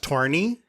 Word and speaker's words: Toni: I believe it's pronounced Torny. Torny.